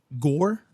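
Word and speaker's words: Gorr: And in doing so, he finds out about, this entity named Gore.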